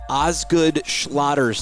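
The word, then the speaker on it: Osgood-Schlatter: say it slow cuz everybody has a different pronouncing it and I usually do it wrong ozg good schlatter's disease how close was I that was great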